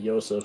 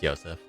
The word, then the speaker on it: Joseph: is Joseph, but I was told, according to my notes, I'm supposed to pronounce it Yosef. Yeah, it's Yosef. Okay.